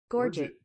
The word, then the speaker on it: gorget: Or is the T silent? Gorget? Meaning throat? I figured if it comes from France, though. The word comes from France, so Figure the T wouldn't be pronounced, but it seems like Gorge it. Okay, gorge it. Let's go. The more you know, man. Right on. Examine the necklace. Yeah. It's gorge it, and it actually means like throat area.